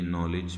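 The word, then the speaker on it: knowledge: इसी तरीके से डी और जी आ जाता है, ये यहाँ पर डी साइलेंट हो जाएगा, तो ये नॉलेज में आ जाता है।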